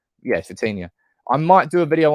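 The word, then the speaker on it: Vitinha: think it's vtin let me see if I pronounce his name right yes vtina I might do a video on him later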